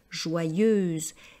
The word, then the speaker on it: joyeuse: est une fille joyeuse faites attention à la prononciation c'est vrai que c'est pas évident de faire le son Yod joyeuse et extra traverti donc